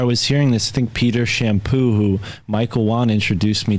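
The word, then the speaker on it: Champoux: head no but yeah it's spelled c-h-a-m-p-o-u-x shampoo and he's very very interesting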